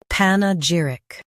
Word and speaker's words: panegyric: Panegyric. Stress j and keep pan light.